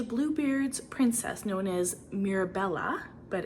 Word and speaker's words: Mirabella: treasure she is blue Beard's princess known as Mirabella but it's spelled m i r a b e l l a Mir Bella she is a mermaid who stole his heart